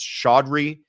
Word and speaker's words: Chaudhry: Somebody told me how to say this. Chaudhry. I think I've been doing it wrong all along.